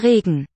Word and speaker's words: Regen: Der Regen. Note it's not an in the second syllable, it's a weakened vowel.